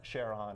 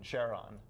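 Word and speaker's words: Charon: moon of Pluto called Sharon or Quran depending on whether you're an astronomer Greek classicist the the fellow who discovered it his name his wife's name was Charlene so he adopted the pronunciation Sharon and most astronomers used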